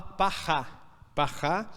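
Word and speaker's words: פרה: A palavra quer dizer novilha ou vaca, né, vermelha, quer dizer, se fala parrá, e cinzas, né, essa cinza se fala afal.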